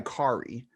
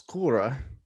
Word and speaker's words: Kari: variety of pronunciations so i go by kari the real way you pronounce my name is korra in norwegian um but i've heard everything from carrie corey care carray gary care